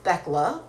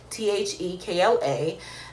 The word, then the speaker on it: Thekla: It's 2 syllables. It's Thekla, right? Thekla. And my, the origins of that name is actually Greek, right? It comes from the words theos and kleos, right?